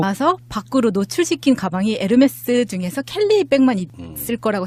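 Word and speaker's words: Hermès: 그러면 지금 김인옥이 받았다고 하는 것 웃으면서 그렇게 하면 무식하다는 소리 듣는다고. 뭐라고 해야 되죠? 네, 에르메스. 그냥 콩글리시로 하면 에르메스입니다. 그러니까 에르메스. 히읗 발음이 안 난다면서요. 묵음이에요. 묵음. H가 발음이 안 되니까 우리가 옴무도 홈무라고 안 하잖아요. 아, 옴무.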